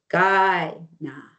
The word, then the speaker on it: Kainai: with the G and our K's are pronounced with a G. Again, the Blackfoot Confederacy is Siksikaitsitapi. Siksika is Siksika. Kainai is pronounced Gainaa.